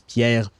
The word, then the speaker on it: Pierre: the way they pronounce Pierre, it's because they can't pronounce Pierre with a an R to the back of the throat like we do in French, right?